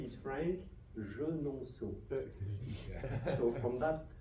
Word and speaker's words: Franck Genonceau: My last name is horrible to pronounce. So I give a try if you don't mind. So my name is Franck Genonceau.